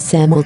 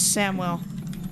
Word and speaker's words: Samwell: This character's name is Samuel Tarley. Is this okay? Juno It doesn't really Jo- say it right. healer. Samuel? Cancel. It says it Sam wrong, yeah. rename, please. His name is Samwell.